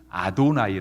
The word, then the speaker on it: 아도나이: 이렇게 쓴 책이니까 그래서 유대인들은 그 여호와라는 발음을 읽을 때요 여호와라고 안 읽고 야외라고 안 읽고 아도나이 아고 읽습니다 아도나이 뜻은 뭐냐면 이건 철자는